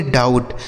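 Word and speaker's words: doubt: डाउट। डी ओ यू बी टी। इसे पढ़ा जाएगा डाउट।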